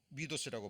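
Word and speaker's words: μῦθος: 자, 미도스라고 발음이 됩니다. 헬라어로는. 그죠?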